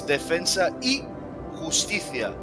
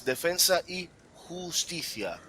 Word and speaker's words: Defensa y Justicia: Well, and for all of you guys just watching this game from home, let's just get the pronunciation for this Argentina side correct. It's Defensa y Justicia.